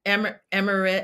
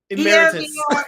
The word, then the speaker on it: emeritus: Emirate. Oh no no no. I don't know. Say it. Wait, oh, no. Everybody knows. Emeritus.